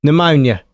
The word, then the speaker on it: pneumonia: That's not how it's spelled. I I can't think of anything off the top of my head. But pneumonia.